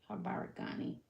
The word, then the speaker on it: Habari gani: Let me see how you pronounce it. Harabagani. Habaragani. That's how you say it. Habaragani.